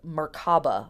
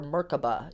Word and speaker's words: Merkaba: And truly, what the chariot card is referring to is a magical idea called Merkaba or Merkaba. It's pronounced both ways, which means the chariot of the soul, aka the body.